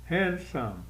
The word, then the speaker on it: handsome: Handsome. Tem 2 sílabas, mas a sílaba tônica é a primeira.